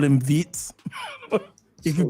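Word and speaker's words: Wirtz: It's not vert. That's the way the English people do it. The proper way, the German way is Vitz. So, I'm going to call him Vitz.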